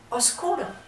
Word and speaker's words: oscuro: Ahora solamente decimos oscuro, porque con el paso del tiempo esa B simplemente en el habla fue desapareciendo, se dejó de pronunciar y ya no es obscuro, sino oscuro.